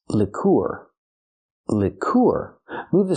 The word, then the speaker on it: liqueur: Use the short sound like this is for the first vowel. Lick. Lick. Lour. Then we have the sound using the ooh sound like food plus the r leour.